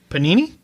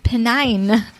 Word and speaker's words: Pennine: Panini? Pennine. No, it's not Panini. There's one less syllable. It's Pennini. Pennine. Pennine. The Pennine Hills. Okay. And around... They're literally two words you know. Pen and nine.